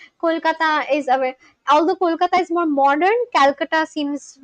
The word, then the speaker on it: Kolkata: 2001 it was changed from Kolkata to Kolkata. 2001 I was one years old. The government of West Bengal made the change to match the local Bengali pronunciation and move away from